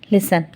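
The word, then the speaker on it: listen: लफ्ज ऐसे हैं जैसे लिसन इसमें टी क्या है साइलेंट इसमें वाव साइलेंट था इसमें भी व साइलेंट था इसमें टी साइलेंट है इसको हम पढ़ते कैसे हैं लिसन इसी तरह से अरबी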